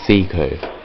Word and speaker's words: Psycho: It's pronounced Seiko, but just call me.